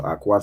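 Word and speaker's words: אחות: So Akwath is how you'd say sister.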